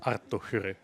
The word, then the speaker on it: Arttu Hyry: Well, the I actually cannot roll the R. Oh, really? That's something I have struggled with, but the way I would pronounce it is Arttu Hirri.